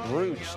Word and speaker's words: brooch: Is it brooch or brooch? I've always said brooch. I think it's brooch. But is it a brooch? It's spelled like brooch, but it's brooch. Let's see what Aline will do if she'll trip you up. You can say it both ways, I'm told.